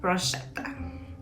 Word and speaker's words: bruschetta: And that is because the Italians pronounce the sound CH in bruschetta is hard as you will pronounce the words kettle and ketchup.